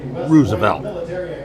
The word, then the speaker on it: Roosevelt: the last name Roosevelt the one pronounced it Rosevelt 139 meetings starting just